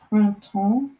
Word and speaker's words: Printemps: this table for you it is the word front tone which means spring in French so that is how you spell it so it's P R I n te